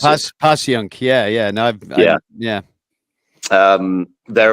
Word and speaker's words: Passyunk: It's called Passyunk Avenue or Passyunk, depending on how you pronounce it. Passyunk.